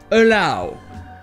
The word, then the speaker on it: allow: Et donc ici, contrairement aux autres mots dont on va parler, le OW se prononce OW. Allow.